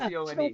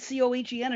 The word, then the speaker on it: Cohen: Well, do you pronounce that name Cohen or Cone? Because Leonard Cohen, isn't it C-O-H-E-N? Everybody calls him Leonard Cohen. Yeah, it is Cohen, technically. Yeah. Okay, I didn't know. I thought maybe the pronunciation could have just been, Cone. So when you say it fast, it sounds like Cone, but...